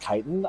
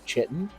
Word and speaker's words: chitin: For clarification, I didn't realize that chitin is actually pronounced chitin. I always thought for years, I've been playing Morrowind and Skyrim for years, and I always thought it was chitin.